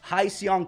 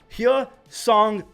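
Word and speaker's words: Hyeseong: guys flame me for saying hiong Kim it's h song Kim I think I said it right but he was offered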